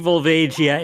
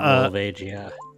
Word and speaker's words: Volvagia: I've never been clear on the pronunciation specifically, but I've always said Volvagia. Right? Because it's like Barubagia in Japanese.